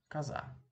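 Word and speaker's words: коза: Kaza. Kaza. Okay. Yes, you might be wondering why I'm pronouncing this one as an ah.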